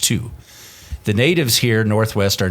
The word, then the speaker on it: Thy: is called two it's pronounced thy but it's pronounced two the natives here Northwest are notoriously understated and